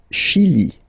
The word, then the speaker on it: Chili: Le Chili. Le Chili. Okay, remember, CH, sh.